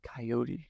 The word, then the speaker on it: coyote: Like at the university, if you say coyote, they say No. coyotes, right? Because that's how you say it in South Dakota is coyote.